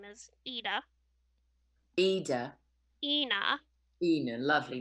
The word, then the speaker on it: Eithne: spell the name again it's e-i-t-h-n-e pronounced ena ena okay that's neat it's irish of course um what else can